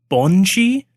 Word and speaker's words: banshee: So I think it's pronounced Bonshi.